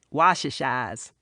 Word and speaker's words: wash-ashore: They call people who come to the Cape from elsewhere wash-ashores, only they pronounce it wash-ashas.